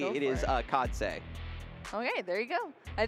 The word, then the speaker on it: Khadse: And we do have, and we also just, I always try to pronounce the players' names correctly. It is Khadse.